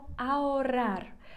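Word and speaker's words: ahorrar: означає заощаджувати з вікні Зверніть увагу на його написання воно пишеться А хорар так а чи ніколи в нас не читається не вимовляється навіть свої власні назви тому ми скажемо aurar а заощадження як іменник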